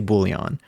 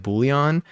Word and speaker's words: Boolean: look it up and they talk about the American pronunciation the American English pronunciation they say Boolean so I I think